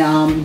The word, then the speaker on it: Uwe: our honor to have him his name is U Banton which is spelled UWE and last name Banton and he